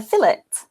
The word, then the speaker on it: filet: So how would you pronounce this word, F-I-L-E-T? A fillet.